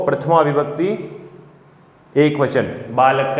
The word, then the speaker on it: बालकः: और इस विसर्ग का जो उच्चारण है वो ह के समान होता है। ठीक है, ह के समान इस विसर्ग का उच्चारण होता है।